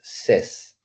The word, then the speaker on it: says: Pero cuando yo digo say, la pronunciación de la tercera persona es says.